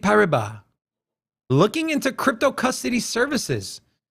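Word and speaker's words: Paribas: so I know French I think the S is silent BNB pariba looking into crypto custody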